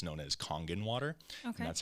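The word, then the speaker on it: Kangen: Uh a lot of you guys may be familiar with it is all it's known as Congen water. Okay. That's how it's pronounced.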